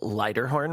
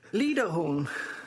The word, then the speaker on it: Liederhorn: Who used to run the metal record label Lighterhorn Records. Did I pronounce that right? No. How is it pronounced? Liederhorn.